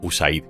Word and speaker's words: USAID: la agencia de cooperación, la que se conoce como USAID o USAID, como se pronuncia algunas veces en España.